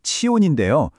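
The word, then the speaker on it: צִיּוֹן: 보시는 것처럼 시온 히브리어 발음으로는 치온인데요.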